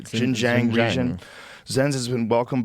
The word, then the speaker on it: Xinjiang: ethnic minorities in its, how do you say that? Xinjiang region? I believe that's right. Xinjiang region.